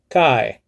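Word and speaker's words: καί: falling and accent so instead of saying kai you just lower down your pitch and say kai you know because it's going down you see so if it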